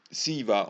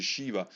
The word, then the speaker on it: Shiva: che rappresenta il dio Siva, o mi sa che si pronuncia Shiva, che sta praticamente dentro una ioni, quindi entra a una forma ovale che ricorda appunto lo piccione.